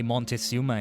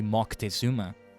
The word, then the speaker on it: Moctezuma: I mean, you could technically say Montezuma is wrong because it's supposed to be Moctezuma.